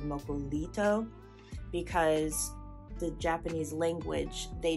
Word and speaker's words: Mokulito: you've probably noticed that there are two ways to spell it localito with an l and moku Nito with an R so this is just due to the phonetics of English in Japanese so the West has adapted mocolito because the Japanese